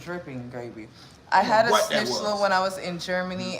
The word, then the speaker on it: Schnitzel: Schnitzel? Schnitzel. It's got a Z in there. Like the Pulitzer Prize.